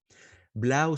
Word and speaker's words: Blau: Am I pronouncing the name correctly? Is it Blau or is it something else? Yeah, Blau.